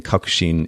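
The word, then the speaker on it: 確信: So in Japanese, it's pronounced sentaku, that's choice, and then kakushin is belief.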